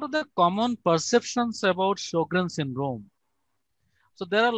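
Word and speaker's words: Sjögren: But before Second World War, their official language was German, and in German, SJ is pronounced like SH in English.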